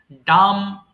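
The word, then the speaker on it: dumb: blind অন্ধ খফ কাশি ডাম বোবা এখানে বি এর উচ্চারণ হবে না হ্যাঁ সিম্পলি বলবা ডাম বোবা লেমপু আর স্পিডল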